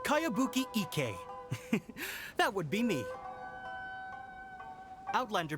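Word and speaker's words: Kayabuki Ikku: of it hmm by cowabunga icky yumiya this is a really strange name who's this cowabunga it's pronounced kaiabuki ek that would be me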